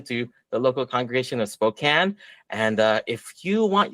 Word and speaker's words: Spokane: Yes, that's pronounced Spokane. I've heard it pronounced Spokane. Spokane. No, it's Spokane.